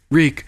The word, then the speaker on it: Reek: that rhymes with meek reek reek it rhymes with weak and even the subtitles